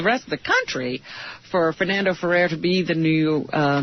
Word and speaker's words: Fernando Ferrer: Ferdinand Ferrer.